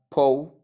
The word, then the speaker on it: potent: In the first word we have po. In the second word we have poor.